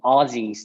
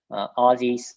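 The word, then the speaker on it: Ozys: been newer um i guess crypto projects and aussies is another one that we've partnered with uh very recently um the you know i wouldn't say partnership that we're working with very recently aussies is spelled o z y s there they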